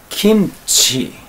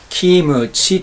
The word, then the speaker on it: 김치: 菓子であるキムチこれを韓国語の発音ではどういう言うかといいますとキんち金ちーと言いますこれを日本人的な発音で行くときーむちーと言ってしまいますけれどもそうなる